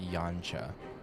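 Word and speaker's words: Yanxia: How the talking stopped when we first set foot on the plains of Yansha. Yansha. I would not have guessed it would be pronounced Yancha.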